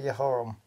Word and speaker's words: Jehoram: I'm going to have to say it in Hebrew. Sorry, guys. It's easier for me to pronounce it that way. Jehoram.